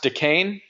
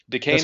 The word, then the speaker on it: Dacane: hi everybody how you doing and is it pronounced decain decain correct okay I I should have asked you